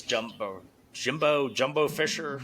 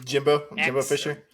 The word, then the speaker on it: Jimbo Fisher: I guess Jumbo Fisher, Jimbo Fisher.